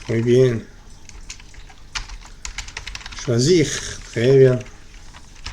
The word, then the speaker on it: choisir: Choisir, très bien. Se pronuncia bien la R al final, ¿listo? Porque no es ER, sino IR. Ir, finir, agir, choisir.